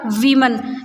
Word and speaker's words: women: तो ये वुमन जो है वो सिंगुलर एक वुमन है, और वीमन ये जब WOMEN हो जाता है, प्लूरल फॉर्म में हो जाता है, तो इसका प्रोनाउंसिएशन होता है वीमन।